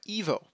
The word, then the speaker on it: 1v0: of Nino Ivanov's programming language called 1v0 or as he pronounces it, uh, EVO.